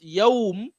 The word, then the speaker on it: Yawm: So this Yawm is mad lean in Tajweed. Maddu al-lean.